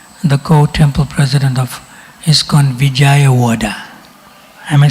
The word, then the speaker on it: Vijayawada: You know him, he's from Pune before, but he serves as the co-temple president of ISKCON Vijayawada.